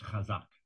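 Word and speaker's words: חזק: also mentioned increase videos you continue to mispronounce these roots based on your misunderstanding of a 19th century transliteration convention the word is kazak you look at the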